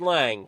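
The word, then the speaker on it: Lange: I'm doing well and your last name is present pronounced Lang correct that is correct okay I I might have butchered it at the beginning of the broadcast tonight but I got it by a few laps in it that wait a minute the the E silent it's okay yeah yeah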